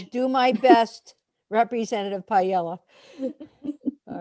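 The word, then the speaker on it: Pajala: spent 4 years mispronouncing Kelly's name, and it's Uh-oh. Payella.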